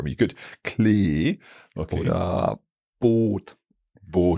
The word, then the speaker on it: Boot: Or boat. Boat. You really have like a oat, oat, and that's why, because we have 2 O's. So double vowels make the vowels even longer.